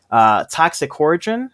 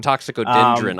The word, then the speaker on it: Toxicodendron: Toxicorigin, actually, I'm definitely saying the Latin name wrong. Toxicodendron.